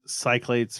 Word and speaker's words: Cyclades: I enjoy Imperial Settlers, Race for the Galaxy, Village, Seasons, Cyclades, or there's a bunch of different ways to pronounce that one. I've always said Cyclades. Yeah, it's Cyclades or and Snowdonia.